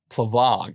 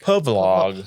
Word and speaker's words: Plavlog: But this is the Professional Casual Network's Marvel Crisis Protocol Plavlog. Pavlog. Plavlog. I have to hit myself in the throat to say it right.